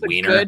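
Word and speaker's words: Wiener: doxxed my la my actual last name is weiner um and it's spelled w-i-e-n-e-r so weiner good german name it means from vienna it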